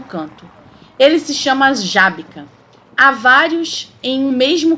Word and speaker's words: Żabka: A gente fala Żabka, mas não se escreve assim.